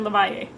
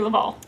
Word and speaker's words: LaValle: Puerto Ricans in the neighborhood call him Victor LaValle. So I felt vindicated for that, but that is not how you pronounce his name. It is in fact Victor LaValle.